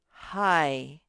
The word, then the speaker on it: high: This one says hi. Remember that GH is silent.